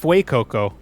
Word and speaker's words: Fuecoco: it's pronounced Fuecoco because it's supposed to be a Fuecoco. Spanish region.